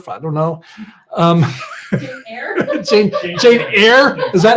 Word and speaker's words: Jane Eyre: really love scripture, or they love, you know, Jane Eyre, whatever, I don't know. Jane Eyre? Jane Eyre?